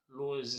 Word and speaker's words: Lohse: E o meu canal no YouTube é Lose. Lose se escreve Lohse e é com Z.